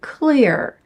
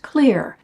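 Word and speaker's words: Xlear: This is something called Clear, and it's spelled X-L-E-A-R, but it's pronounced Clear.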